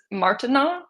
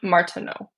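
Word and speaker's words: Martenot: I just was googling the and Martina I think is how you pronounce that. Um on wait and Martino that's how you pronounce.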